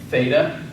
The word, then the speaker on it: theta: uh a like oey Theta and this is one of those instances where the Greeks would have pronounced this more like a t but instead we will pronounce it like thin Yoda yod and that